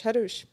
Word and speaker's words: Hrush: is named Hrush. Hrush. They were able. I to made pronounce everyone make sure that they understand how to pronounce Hrush.